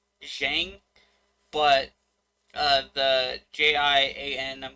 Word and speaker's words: Xiang: like pretty familiar on is shang the x i a ng i'm pretty sure that's shang but uh the j-i-a-n